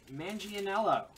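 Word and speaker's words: Manganiello: Joe Mangianello. Mangianello. It's not how it's spelled, but...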